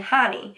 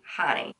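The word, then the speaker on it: Jany: My name is actually Hani. It's spelled J-A-N-Y, and I was born in Cuba, so the J sounds like an H. I tell people jalapeno, Jose, Hani.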